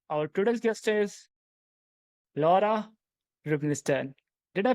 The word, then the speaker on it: Rubinstein: I'm your host and our today's guest is Laura Rubenstein. Did I pronounce that right? Very close. Rubenstein.